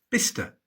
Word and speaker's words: Bicester: There are no absolute rules in English place names, but Cester is usually shortened to Ster, Bicester, Gloucester, and Shire is usually